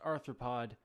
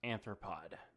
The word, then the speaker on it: arthropod: anthropologist I was saying the word wrong it's pronounced arthropod not anthropods so just making that clear I mean seriously